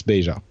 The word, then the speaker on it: Beja: traveled so much that now it's the French way that you have to pronounce it and that's beta what's your middle name